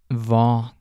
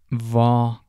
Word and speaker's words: hva: want to note that most of these question words start with HV, and the H in these words is silent. So the first word is va. Va.